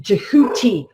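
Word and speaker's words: Djehuty: known by the name jehuty which has the key dragon root dj ja which is the phonetic um in english phonetically goes ja as in the letter g but is also depicted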